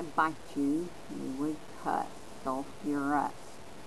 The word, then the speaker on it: sulfurous: Sulfurous. Notice that the middle syllable, the UR, has been added back.